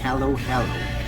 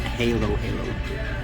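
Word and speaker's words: Halo-halo: Halo Halo Halo Halo I keep saying it wrong hello hello not Halo Halo Halo yes that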